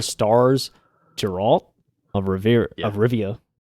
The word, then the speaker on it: Rivia: I thought you were gonna say you wanted to say Riviera because you're used to probably like Ron Rivera.